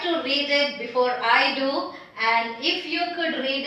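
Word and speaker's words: दो: It is do, dental, do, and do means number 2.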